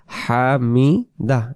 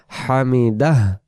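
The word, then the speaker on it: حمده: শেষে যদি একটা হ থাকে তাহলে কি হবে হামিদা এটা রস না হামিদাহ হামিদা এমন হয় তো এরকম করে বলতে হবে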